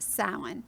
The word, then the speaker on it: Samhain: on the pagan calendar a high holiday called Samhain. Right. And sometimes you may see it written Samhain. That's how it would look phonetically. Yeah. But it's actually pronounced Samhain.